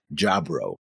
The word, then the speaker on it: Jaburo: I was going to make fun of how the English VA said Jaburo, but then on the comp software screen it says Jabro, which is how they say it.